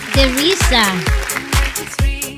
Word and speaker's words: Teresa: Dito pinupronounce nila yung letter E as matigas. Teresa.